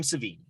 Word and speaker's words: Savini: tom savini but someday that's how you say his last name oh yeah like the steak i've only ever seen